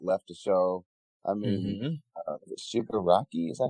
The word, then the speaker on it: Shigaraki: I mean, Shigaraki, is that how you pronounce it? Yeah, Shigaraki.